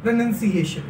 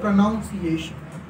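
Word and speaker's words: pronunciation: प्रोनंसिएशन, मैंने बोला प्रोनंसिएशन, बट बहुत सारे लोग बोलते हैं प्रोनाउंसिएशन, बट प्रोनाउंसिएशन इज नॉट any word in English, ये कोई भी शब्द नहीं है इंग्लिश के अंदर, प्रोनंसिएशन इज a correct word.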